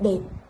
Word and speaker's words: đẹp: Rất đẹp. Ensuite, le A sans rien, ça se prononce comme un A français, comme dans l'exemple dep, wa, avec l'accent du Sud.